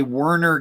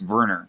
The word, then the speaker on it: Werner: so yeah werner you in english you'd say werner get g-i-t-t but it's actually he pronounced verner but because he's german and all that right